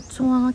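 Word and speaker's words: trois: Siya, 1, 2, 3. 3 is 3, T-R-O-I-S ang spelling ng 3. Hindi pinapronounce ang R.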